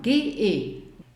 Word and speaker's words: G: G ist die Aussprache, sind 2 Buchstaben. G-E. G wird recht weit hinten im Hals ausgesprochen.